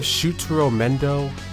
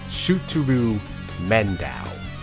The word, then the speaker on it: Shutaro Mendo: Instead of Shutaro Mendo, they call him Shuturu Mendao.